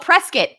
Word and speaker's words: Prescott: Oh, Prescott, like a biscuit. Prescott. I should have known that actually. Spelled like Prescott, but Prescott like a biscuit.